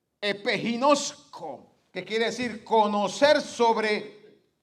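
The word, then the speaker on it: ἐπιγινώσκω: Y esa palabra viene de otra raíz que en el original se pronuncia epiginosco, que quiere decir conocer sobre alguna marca, reconocer, familiarizarse por completo con algo o con alguien.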